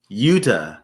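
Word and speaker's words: Jutta: J U T A JT Utah. So I guess you don't pronounce the J.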